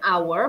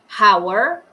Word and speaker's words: hour: pakainya yang huruf o h nya dicuekin yang di sini jadinya karena bacanya our bukan hour nah jadi kita pakainya